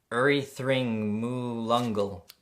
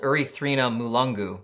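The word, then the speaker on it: Erythrina mulungu: next we've got the erythring mu lungle okay so I've been saying it wrong just because I can't read this writing it's called urethrina mulungu and it's another medicinal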